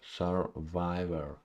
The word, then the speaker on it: survivor: sir sir sir Survivor Survivor Survivor unstressed sir first syllable is unstressed Survivor Survivor Survivor on